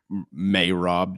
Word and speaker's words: Merab: Um, may Rob. Dude, that drives me nuts. I don't care if that's the correct way to say it. It sounds ridiculous. It's really hard. It's really hard for me to say. I I'm trying to, but weird. May Rob. That sounds like I don't know, Mayflower something. I may rob you later tonight.